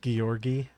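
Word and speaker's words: Georgiy: So, I know from watching other videos on this game that it's uh his name is actually pronounced Gueorgi. Apparently, that's how that is said in Russian. Gorgi.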